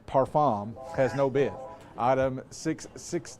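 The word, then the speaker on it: parfum: It is Chanel's Allure Oda Parfam. Parfam. Perfume. That's the way they say it over there across the pond. Parfam. Yeah. Parfom.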